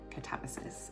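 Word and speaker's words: Katabasis: I think I'm pronouncing that right, because in my head I want to say Catabasis, but it's by R.F. Kuang, and YouTube has those how to pronounce these certain types of words audio clips, and they are saying Catabasis, so I'm gonna go with that for now.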